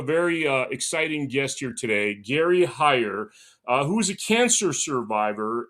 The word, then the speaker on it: Gary Heyer: Today I have a very special guest, Gary Heyer, right? That's how I pronounce it?